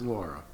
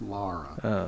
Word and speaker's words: Lara: It's way too dangerous, Laura. I mean, Laura. Is it Lara? It's Lara. Like the bar? The bar? Like Lara bars?